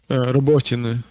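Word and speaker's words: Robotyne: Is it Robotina? Can you teach me? Because I just want to learn it. Sorry, I was distracted a bit. Robotine. Robot. Okay. Okay, so it's just north of Robotina.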